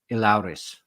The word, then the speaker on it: Elehuris: So, and also I learned how to say his name today, Elehuris.